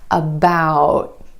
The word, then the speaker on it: about: For example, take the word about. Instead of that true T at the end, most Americans are going to hold that T about. My tongue tip goes to the ridge behind my teeth and just stays there.